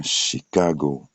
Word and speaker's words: Chicago: Nous avons prenons le cas de dans les chic chic comme chic comme bien habillé tout ça et on a Chicago Chicago.